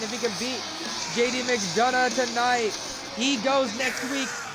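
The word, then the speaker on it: McDonagh: Did JD McDonald JD up next, ladies and gentlemen. Don't ask me to say his actual name. I can't. Mcdana Mcdana.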